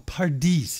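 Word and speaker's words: פרדס: A pardis is how you say it in Hebrew.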